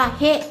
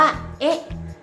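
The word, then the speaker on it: へ: คือ ตัว อักษร เฮ็ด แต่ เมื่อ ไหร่ ก็ ตาม ที่ มัน ทำ หน้า ที่ เป็น คำ ช่วย เนี่ย มัน จะ ไม่ อ่าน ว่า เฮ็ด แต่ ว่า มัน จะ อ่าน ว่า เอ๊ะ เอ๊ะ นะ คะ ทำ ช่วย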